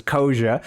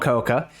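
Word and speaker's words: Koca: Sorry to the Turkish people who know that's pronounced as Kosa, not Koka.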